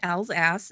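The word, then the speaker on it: Alsace: of the Holy Roman Empire which is now Elsas France yes I said Al's ass it's really how it's pronounced okay had a six day continuous dance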